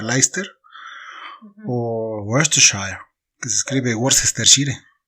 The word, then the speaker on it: Leicester: un montón de letras como leicester que se pronuncia leicester que se escribe worcester City en este punto